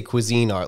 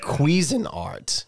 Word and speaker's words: Cuisinart: so it is actually pron now I say Cuisine Art like you do but it is actually pronounced quein art which sounds disgusting yeah it's so it's so